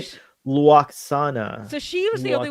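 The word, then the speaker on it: Lwaxana: Because I So, say sh- Luoxana. so she was the only one who really Luoxana. pronounced it with that W sound. Ah, So everyone else just Luoxana. says Luxana, and she went Luxana. Loaxana.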